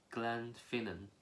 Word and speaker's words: Glenfinnan: yes it's easy viaduct Glenfinnan can I'm finna viaduct when you've got Glen at the start that means Valley so think of it as two words Glen and Finan Glenfinnan yes my duct tourists